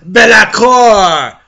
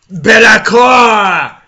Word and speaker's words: Be'lakor: This is going to be about LAKOR, the first Deamon Prince. Yes, I pronounce it LAKOR because it's my video and, you know, come to peace with it.